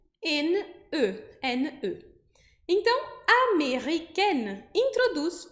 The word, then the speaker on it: américaine: Mas aí eu vou pronunciar américaine. Américaine.